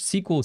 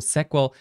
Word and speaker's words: SQL: just structured qr language sql sequel sql sql how you read it how you pronounce it it doesn't really matter but the thing is